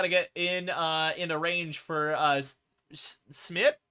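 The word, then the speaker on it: Szmyt: get into range for Smith, I think is how you say it. It's like S-Z-M-Y-T. I'm just going to go with Smith.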